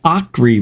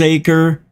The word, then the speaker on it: Acre: in the state of Acre right now. I'm not sure if that's how you say it. It's ACRE, like acre.